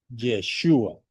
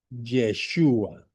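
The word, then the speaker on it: ישוע: Josué en fonética hebrea se pronuncia como Yeshua. Lo voy a repetir. Aquí el nombre que tradujeron como Josué es en hebreo Yeshua.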